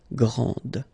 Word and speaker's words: grande: Okay, so you put this E, and then you get the sound D, D, grande.